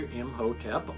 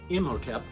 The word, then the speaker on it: Imhotep: But the mummy's name, in case you're keeping track of such things, was Imhotep, pronounced either Imhotep or Imhotep.